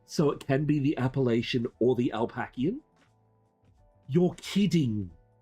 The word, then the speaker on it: Appalachia: Appalachia, lack as in lack.